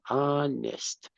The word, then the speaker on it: honest: I am I am honest honest right remember the H in English is ah the H in honest is silent the H and honest is silent so honest very good all right